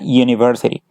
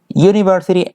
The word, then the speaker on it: university: A university. University empieza con una U, pero el sonido que ella hace cuando ustedes la pronuncian es un sonido de una consonante.